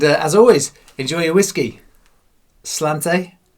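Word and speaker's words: sláinte: always enjoy your whiskey slant slanta slancha apparently I've been saying it wrong all these weeks you saying it wrong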